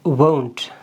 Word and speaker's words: won't: इसकी pronunciation है won't. ये basically एक vowel sound है. Won't. I, जैसे अंग्रेज़ लोग कहते हैं home, go, ये जो glide आ रही है ये इसके sound में आती है will not वाली केस में.